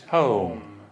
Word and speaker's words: home: So it's Home.